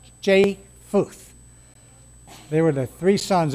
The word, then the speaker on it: Japheth: name is spelled j-a-p-h-e-t-h i keep wanting to add the p into it but that's silent so i phonically spelled it for myself but it sounds jay futh they were the three